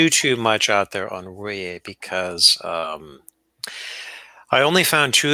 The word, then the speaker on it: Ruyer: you told me is the correct way to pronounce his name, Tim. I think it's Ruyer. It's Ruyer.